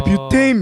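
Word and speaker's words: butane: 이제 뷰테인, 메테인, 이게 사실 그게 맞는 발음이거든요.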